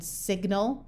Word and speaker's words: signal: However, if you start adding Latin suffixes to the word, the G says G again, like in signal or malignant.